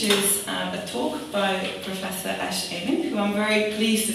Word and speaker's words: Amin: and then there was a series that Professor Amin, am I pronouncing it?